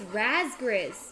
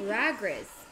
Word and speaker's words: Razgriz: realized that i've been reading your name wrong the whole time it's razgriz but i keep saying ragriz oh shoot i'm sorry